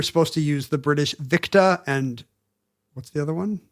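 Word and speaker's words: Victor: It's supposed to be Oscar, Victa, which nobody does.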